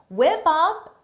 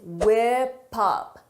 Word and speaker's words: whip up: Whip up is a phrasal verb. For the pronunciation, notice is whip up, whip up, whip up, because of linking, whip up.